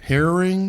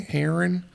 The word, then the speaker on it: heron: Herring. Heron.